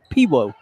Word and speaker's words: Pewo: Pewo.